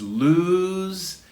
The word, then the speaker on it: lose: closely related words all right number six is lose and loose so let's practice firstly this the pronunciation because this is clue and cause of